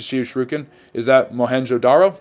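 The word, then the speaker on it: Mohenjo-daro: Is that Moenjodaro? Yes, Moenjodaro. And now I'm pronouncing it correct.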